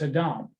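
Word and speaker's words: אדם: things to note here the reference to adam in hebrew that's a dom the emphasis is on a different syllable right okay but the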